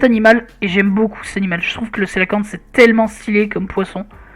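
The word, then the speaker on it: cœlacanthe: Ah non, Coélacanthe, hein, c'est écrit comme ça. Enfin, ça se dit Célacanthe, mais ça s'écrit Coélacanthe.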